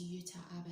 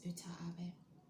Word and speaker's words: Uta Abe: I think that's how you say her name, Uta Abe. I don't think it's Yuta Abe, I think it's Uta Abe, who is a Japanese judo champion.